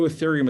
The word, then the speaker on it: Ethereum: spell that for you e-t-h-e-r-e-u-m it's pronounced ethereum if you only buy